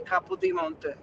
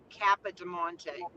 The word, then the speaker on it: Capo di Monte: They were all saying Kappa de Monte. Kappa. I can't even say it the way they say it. I can't even say it the American way.